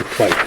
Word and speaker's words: Whyte: That is by David Whyte, and Whyte is spelled W-H-Y-T-E.